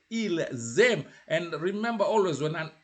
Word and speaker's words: ils aiment: personal pronoun, it is just an S, it means without a vowel, it has to sound like a Z. So that's why you have to say ils aiment. Ils aiment.